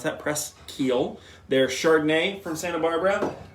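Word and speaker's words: Presqu'ile: a little Duo preschio that is how you pronounce that press Keel their chardonnay from Santa Barbara and last but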